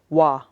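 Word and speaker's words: བ: immeasurable compassion number three this is a ba but often times when it's alone it'll be pronounced wah and it is often pronounced wa when it is the second syllable in a word so here gawa actually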